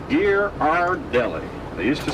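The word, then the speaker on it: Ghirardelli: The name is pronounced Gear R Deli.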